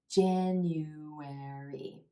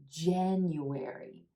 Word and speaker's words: January: you're pronouncing each syllable January the emphasis is on the first syllable and the add as